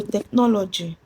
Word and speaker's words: technology: So technology ends with j. So the stress is on the third syllable counting from the ending. So the stress the stress in technology is on n o.